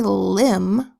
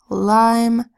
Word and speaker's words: lime: says and we don't want this to say limb with a short I, so we add a silent final E so the I makes its long sound. Ol, I, lime with a silent final E.